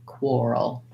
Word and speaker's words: quarrel: your r row oral quarrel so there is like the word oral within the word quarrel um not that that